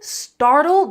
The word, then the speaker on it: startled: So, in the word startled, we also have that flap t, don't we?